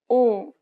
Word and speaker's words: 오: 아, 아, 아, 아, The next vowel is 오, think of the O sound in orange. Round the lips as if you're surprised.